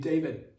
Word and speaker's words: d4vd: David spelled D4 D. The letter D number four. That's how it's spelled. D4 V D as as we spell David.